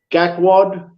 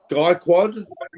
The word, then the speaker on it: Gaikwad: And their T20 squads have got Rahul's the captain, Gakwad, Kishan, Huda. Okay, get the pronunciations right. Gaikwad, Kishan.